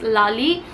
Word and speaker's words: Lale: It's about the man, his name was Lali Sokolov, and the name, like the spelling of the name is Lale, but I searched it on Google. It is pronounced as Lali, so that's why I'm pronouncing it like that.